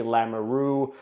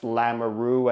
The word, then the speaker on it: Lamoureux: On the back end, they had Sergachev, Dursey, Valimaki, Lamoureux, which I'm learning now it's pronounced Lamoureux and not Lamoureux, even though I prefer to pronounce it Lamoureux. I guess got to change it to Lamoureux.